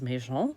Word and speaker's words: Maison: My maiden name is Maison, if you say it correctly in French.